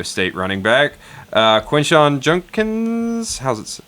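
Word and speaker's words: Judkins: Number four on the consensus board is the other Ohio State running back, uh Quinshon Junkins. How's it pronounced? Junkins, yeah.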